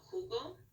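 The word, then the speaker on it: jugo: pronouncing it as an L you kind of pronounce it as a y to be yoga and then now we have um Hugo which means juice and so the J in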